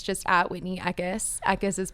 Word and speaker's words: Eckis: it's just at whitney eckes i gus is pronounced like a wet kiss that's how i have